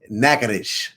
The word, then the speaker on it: Natchez: Oh, you gotta say Nakadish. Right. Nakadish. That's how they say it, sis.